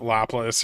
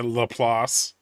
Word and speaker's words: Laplace: Oh, that's also, yeah, you can't pronounce it Laplace. You have to say Laplace.